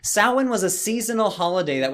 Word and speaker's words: Samhain: hello man every holiday halloween and yes it's pronounced sauwen despite that spelling sauhan was a seasonal holiday that was celebrated in